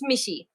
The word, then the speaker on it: Michi: And so I hear sometimes they're like, how do you pronounce? It's Michi.